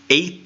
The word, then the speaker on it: eta: how Greek diacritics worked this one is eight ah and it sounds like the E and obey which is actually a long a sound eight eight and